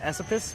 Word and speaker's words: Esopus: I believe the first word is pronounced Esopus, but it's the Spitzenberg apple, and was a favorite of Thomas Jefferson's and is planted at Monticello.